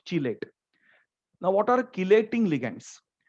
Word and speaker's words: chelate: Otherwise, you will pronounce it as chelate. It's chelate and not chelate.